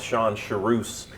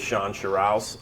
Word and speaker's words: Shawn Sherrouse: okay yeah so um you got my name right and pronounced it correctly because not everybody gets that I get a lot of Shan shus and uh and and so it is Shan shuss um you know I'm